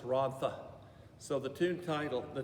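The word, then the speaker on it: Rhondda: and then rhonda h-r-o-n-d-d-a we call it rhonda but actually in welsh it's ron tha so the tune title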